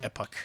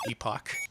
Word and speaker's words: Epoch: I keep having to remind myself it's pronounced epoch and not epoch.